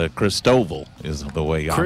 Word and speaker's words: Christoval: an interview with another media member, and it's Christoval is the way I pronounce it.